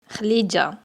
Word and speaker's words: Khlija: Son vrai nom est Khlija, et non Khedidja, selon la prononciation locale.